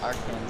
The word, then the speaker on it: Arkansas: Yeah, like, I've met people from Arkansas who pronounce it Arkansas.